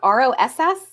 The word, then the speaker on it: Rawus: your last name please ross like r-o-s-s but it's pronounced ross yeah but it's still